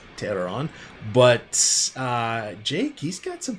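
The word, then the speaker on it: Teheran: is rather interesting so Julio Tay her on this season and I just butchered his name cuz I know it's terror on but Jake he's got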